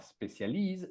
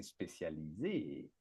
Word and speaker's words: spécialisé: Donc ici aux accents, c'est et c'est pas spécialise, c'est spécialisé. D'accord ?